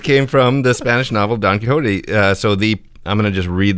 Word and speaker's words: Quixote: Don Quixote. Don Quixote. With an X in there, a silent X, pronounced H, right?